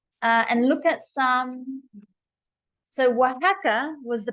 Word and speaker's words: Oaxaca: So Oaxaca was the pronunciation of this place, by the way.